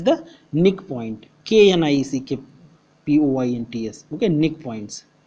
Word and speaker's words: knickpoints: Okay, nick points. K is silent.